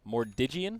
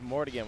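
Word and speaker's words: Armlet of Mordiggian: Mordigian? I thought it was Mordigan when I started playing, but I also don't really play a lot of Armlet heroes.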